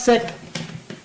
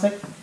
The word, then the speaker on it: Cech: when a scientist namely Thomas Sachs, या Thomas सेक कहेंगे आप, जो भी इस तरह से प्रोनाउंस करेगा, थॉमस सेक, CECH, थॉमस सेक, इन्होंने डिस्कवर किया एक